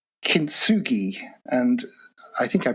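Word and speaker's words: kintsugi: Um, you come up you you you shared with me a a beautiful concept uh called kinsugi and I think I pronounced it correctly. So, kinsugi.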